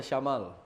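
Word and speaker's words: شَمال: Jadi jangan disebut syimalaka, syimalaka padahal maksudnya syamalaka itu beda arti antara syimal dengan syamal.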